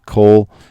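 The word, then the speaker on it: כָּל: When you see kol by itself, many times it will have the holum, which would be a long O sound, but here this is a short O sound where the accent moves. It's not an A sound.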